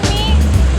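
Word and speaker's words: mì: we're getting a little, what's it, banh mi? Banh? Banh mi. Me.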